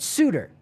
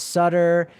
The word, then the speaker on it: Suter: was asked about Brent Suitor oh and uh his name was mispronounced as Sutter and then buddy you